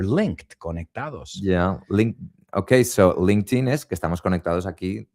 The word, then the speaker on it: LinkedIn: Because everybody, I think, in Spain is pronouncing it wrongly. It's LinkedIn. My ears are bleeding right now, Damian. It's LinkedIn.